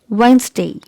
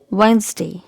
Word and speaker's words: Wednesday: which is mispronounced often so it's wednesday letter is silent here so it's wednesday wednesday wednesday okay here letter e is salad so it